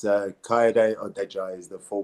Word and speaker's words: Kayode Odejayi: It's a lot easier, but it's Kayode Odejayi is the full pronunciation, but Kay works fine for me, no problem.